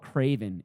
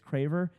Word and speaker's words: Craver: I get called Craven. It's Craver.